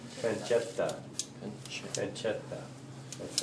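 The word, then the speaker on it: pancetta: Petta. The way you pronounce an Italian word with two T's, it's almost like you have a stop in between the T's. Petta.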